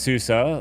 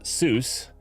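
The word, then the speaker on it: SUSE: work at Susa um which is a German company which is pronounced Susa like Porsche I learned this the hard way I thought it was Seuss uh other people in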